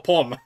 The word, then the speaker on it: pomme: Palm, like the pomegranate. Like the pomegranate juice.